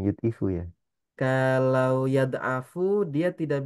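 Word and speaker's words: يُضْعِفُ: yudifu betul betul yudifu Bukan yadfu gitu bacanya yudifu Ya kalau yadafu dia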